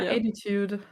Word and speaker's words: 82DE: It's like 82DE is like kind of sounds like I think attitude. ATD attitude. I don't know. It was literally like this on. Yeah, attitude.